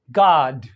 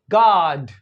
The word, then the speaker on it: God: American ओ में यानी जी ओडी को वो पढ़ते हैं क्या पढ़ते हैं गड क्या पढ़ते हैं गड गड गड गड तो यह जो ओ का साउंड है यह इस तरह से पढ़ा जा रहा है जैसे कि फादर में फादर में एक ए का साउंड होता है इसी तरह से ओ